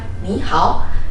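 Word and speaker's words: 你好: Tetapi ketika diucapkan secara bersamaan menjadi satu kesatuan, ni hao, itu kata ni-nya harus berubah menjadi nada dua, yaitu ni, ni hao, seperti itu.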